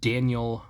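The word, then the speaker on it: Daniyal: State uh Daniel Robinson I think is how it's supposed to be pronounced it's spelled kind of like denial uh d a n i y a l but I don't think it's supposed to be pronounced that way but he is in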